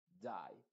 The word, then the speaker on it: die: la combinación i e esa e es completamente muda y la i se está pronunciando con su sonido original que es a es